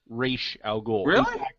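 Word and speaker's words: Ra's al Ghul: look at the anime series they call him Raza goul then they start calling him ra aloul no the anime series he was always re aloul in Batman Beyond tal is in an episode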